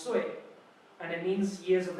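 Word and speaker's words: 岁: So it's sui, pronounced sui.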